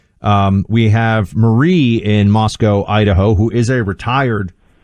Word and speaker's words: Moscow: supposed to pronounce this Moscow so we have learned not like the way Americans pronounce Moscow the city in Russia so Moscow Idaho and